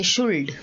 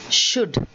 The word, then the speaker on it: should: us make not all we say would we say shuld but it is wood it is should kaff half salmon salmon